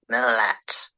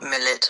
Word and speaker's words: Milat: how to pronounce it, it's actually Ivan Milat. Milat. Not Milit or whatever you two were trying to say.